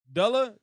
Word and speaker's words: Dullah: The U is long. Dullah, Dullah.